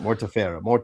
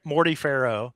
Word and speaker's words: Mortefero: Mortefero. Yeah. Mortefero. So I said it wrong for the first 2 years, I think. I think I was calling him Morty Farrow was what I was calling him.